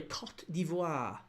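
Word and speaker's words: Côte d'Ivoire: Germany, Ecuador, Ivory Coast or sorry, Cot Devoir. Should probably give it the proper pronunciation.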